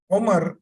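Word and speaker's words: عمر: How do I know this is Umar and it's not Amr? How will you identify that? Because there are no harakat. And I'm pronouncing it as Umar, which is Umar.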